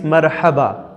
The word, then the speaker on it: مرحبا: The translation of hello in Arabic is marhaba, not marhaba. Marhaba, pronounce with me.